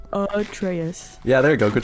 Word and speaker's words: Atreus: I I can't I think it's Atraus. Atraus.